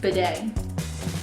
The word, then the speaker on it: bidet: The 4-day, that rhymes with day, bidet.